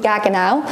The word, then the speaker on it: Gaggenau: So there's Gaggenau appliances. I know lots of people say that I say the appliance name wrong, but this is called Gaggenau. We're pretty sure we're getting that right, yeah.